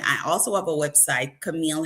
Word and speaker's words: Cameal: I also have a website, Camille. And you might know my notice my name is spelled a little different.